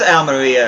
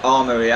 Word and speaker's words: Almería: he opens up his al meriya accounts actually it's pronounced all Maria I'm gonna be switching pronunciations between Al Murray and all murmuring all Maria though it is supposed to be all Maria yeah I just seem